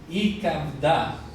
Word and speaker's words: ikabda: Entonces dice de ikabda. Eso se pronuncia así. De ikabda. De ikabda. Viene de kabed, pesado.